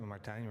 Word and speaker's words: Martijn: Martijn rhymes with design.